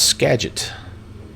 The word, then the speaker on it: Skagit: my flying skills i did not know it's skagit all right thanks for letting me know that